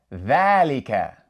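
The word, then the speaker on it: ذَٰلِكَ: It's pronounced Dhalika, with an alif sound coming after the letter Dhal.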